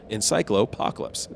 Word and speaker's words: Encyclopocalypse: Encyclopocalypse. So it's encyclopedia and apocalypse. Encyclopocalypse.